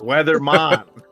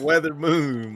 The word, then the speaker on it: Weathermon: say the guy's name it's weathermon not weather Moon my boy crazy I